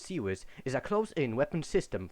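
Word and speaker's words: CIWS: wikipedia the free encyclopedia the following series pronounced seawiss is a close-in weapon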